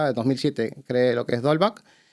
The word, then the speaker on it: Dolbuck: Dolback sigue vivo. ¿Porque hay alguna reminiscencia de algún nick o algo? Dolback, que se escribe Dolbook, siempre me lo preguntan, ¿no?